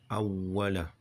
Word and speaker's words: أوله: Et s'il oublie au début, alors qu'ils disent Bismillah awwala. Il n'y a pas la shedda, mais elle y est. Elle se prononce, quoi. Elle n'a pas été écrite seulement.